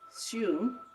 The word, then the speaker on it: Hsu: So the fifth hexagram is Shu. It's spelled HSU in the, how do you say that?